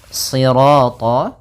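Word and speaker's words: صراط: Kemudian pada lafal sirat ya kembali lagi di sini shadnya tebal jangan dibaca dengan huruf sin.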